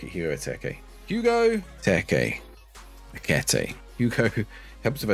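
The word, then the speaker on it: Ekitike: Hugo Eteke would be good, actually, yeah. Look at Hugo Eteke. Hugo Eteke. Ekete.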